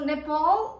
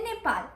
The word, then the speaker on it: Nepal: So Nepal is English pronunciation, but Spanish pronunciation would be soy de Nepal. Nepal. Soy de Nepal, not Nepal.